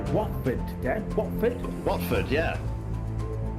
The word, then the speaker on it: Watford: watford dad what football watford yeah is it the t silent though no it's watford okay okay i need